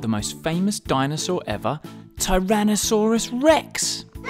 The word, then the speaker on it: Tyrannosaurus rex: most famous dinosaur ever Tyrannosaurus Rex how do you say that again ty ran no saw Russ Rex it's often called t-rex